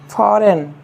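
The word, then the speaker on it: foreign: क्या हो जाएगा साइन साइन करना हस्ताक्षर करना फॉरेन क्या हो जाएगा फॉरेन विदेश डिजाइन ध्यान दीजिएगा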